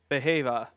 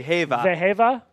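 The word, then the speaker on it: Wehiwa: Behava. That is how you pronounce V bea. Vehava. Okay. Throw the W out. It's a V.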